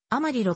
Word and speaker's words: アマリロ: いう説もある氏名はスペイン語由来ではあるが英語風にアマリロと発音されるグレートプレーンズ